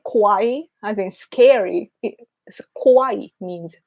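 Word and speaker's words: 可愛い: It's so funny though when foreigners say kawaii as in scary.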